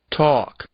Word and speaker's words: talk: Agora nós vamos escutar um outro som do L, que na verdade inexiste, em duas palavrinhas, e nós voltamos para ver mais alguns casos. Walk, talk.